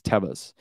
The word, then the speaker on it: Tevas: going to be like Tevas tivas not tivas I say tivas but that's not how you say it's Tevis where like when you